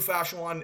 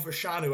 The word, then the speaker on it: Fashanu: do like Joe Al but Olu fasan is a Olu fashanu I've been saying his name wrong all this time I think it's a